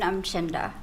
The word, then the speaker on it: Umchinda: Hi, my name's Umchinda. Will you spell that, please?